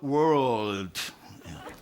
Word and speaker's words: world: Reach the world.